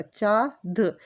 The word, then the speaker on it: चाँद: जब तक आप चंद्र बिंदु नहीं लगाओगे तब तक वो सही तरीके का प्रोनाउंस नहीं ले सकते हैं।